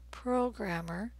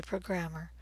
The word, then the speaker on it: programmer: o is in rows programmer do not say programmer please don't say programmer in the US we say programmer the stressed vowel sound